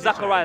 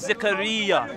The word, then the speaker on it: Zechariah: So it's not Zachariah. Right, let me correct you. In my name is Zechariah. Zechariah. Say it properly. Zechariah, not Zachariah.